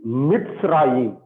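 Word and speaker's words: מצרים: Okay, this is sade. So the sound is like ts. Tis. Okay, mitz. So here we stop the syllable. So it's Mitzrayim.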